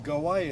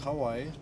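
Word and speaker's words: Hawaii: То значит, Гавайи, это у нас Хавайи.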